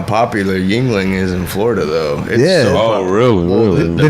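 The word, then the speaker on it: Yuengling: me a broom Anna Yuling is that how you pronounce it a Yuling it's a Yingling o mo pasa me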